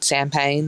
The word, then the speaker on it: Payne: I'm going to have to say champagne/sparkling wine, because when you have a name, Sam Payne, that rhymes with champagne, for the champagne, campaign, you can't not have bubbles in there.